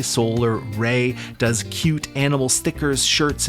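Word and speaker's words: Rei: Solar Ray, now this is spelled R-E-I, Solar Ray does cute animal stickers,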